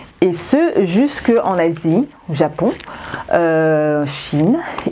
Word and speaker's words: chi: ce jusqu'en Asie, Japon, Chine, il est prononcé chi, aussi avec C-H-I.